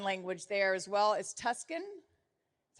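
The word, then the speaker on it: Tusken: a special sign language there as well as Tuscan that's how you say it yep and was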